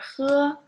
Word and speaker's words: 喝: 歌, 科, 喝, remember 喝? This word, don't pronounce it as h. It's different when you say h. It's like all the air just come out from your throat and didn't touch anything.